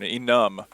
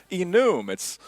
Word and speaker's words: enum: the last episode but that's how I pronounce enum some people get on to me because they're like oh it's Inu mitts it starts the word enumeration but no you look